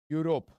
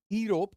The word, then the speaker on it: Europe: words European trip here Europe am I pronouncing it as eope or Europe I'm pronouncing it as U or U so Europe okay I'm